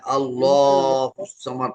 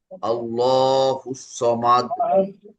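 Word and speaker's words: اللَّهُ الصَّمَدُ: হ্যাঁ, আল্লাহুস সামাদ টানতে হবে। আল্লাহুস সামাদ, হুস সামাদ। ওই যে সংযুক্ত তাসদীদ, হরফে হু, তারপরে আসলে চ, এটা চ না, দন্ত স না, হুস।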